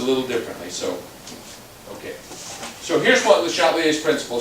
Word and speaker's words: Le Chatelier: Now, Le Chatelier, it's not quite the right pronunciation because, if you were speaking French, you'd say Le Chatelier.